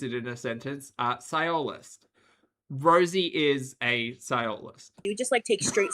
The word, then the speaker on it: sciolist: Sci- The primary emphasis is on the first syllable. Sci- Sciolist. Okay.